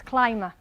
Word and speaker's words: climber: Remember, we don't usually pronounce the B with an M, so it's climber.